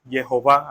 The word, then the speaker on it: Jehová: le dijo Yo soy Jehová aquí en hebreo coloca el tetragrama H que la semana pasada explicamos que no lo sabían pronunciar hasta hace poco que se descubrió que la verdadera pronunciación es Jehová y aquí está el